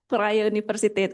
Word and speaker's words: Vrije Universiteit: Sedikit informasi, bacanya Vrije Universiteit Amsterdam.